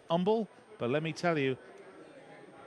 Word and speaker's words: Humble: I'm told it's pronounced Humble, but let me tell you, you got to be humble to live in Humble.